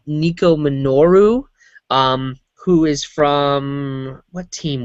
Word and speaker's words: Nico Minoru: With She-Hulk, Dazzler, Medusa, and I think it's pronounced Nico Minoru, who is from, what team was it?